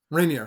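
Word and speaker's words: Raniere: Um, so started by Keith uh what's how do you pronounce his name? Reineer.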